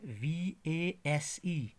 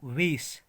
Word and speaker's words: vase: उसके बाद है VASE. फ्लावर ना, फ्लावर, वेस, लेकिन इसको हम पढ़ते हैं आमतौर पे इसको वेस, मगर वेस इज द रॉन्ग प्रोनाउंसिएशन. इसकी करेक्ट प्रोनाउंसिएशन है V A Z, vase, vase, vase.